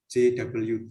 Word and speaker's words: JWT: Nah, kalau ngomong masalah autentikasi, ada contoh-contoh seperti OAuth, terus ada JWT, maaf ya, JWT gitu ya bacanya.